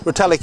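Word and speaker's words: Retallick: Did we pronounce that right? Retallic. Retallik is correct.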